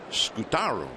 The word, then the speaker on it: Scutaro: why is your name Scutaro? Because the more common Spanish pronunciation would be Scutaro. And he said, well, my father was Italian, and that's the Italian pronunciation.